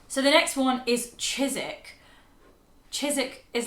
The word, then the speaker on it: Chiswick: You kind of miss out the W. It's just Chiswick. And the S in Chiswick, C-H-I-S, is not Chiswick, it's Chiswick with a Z.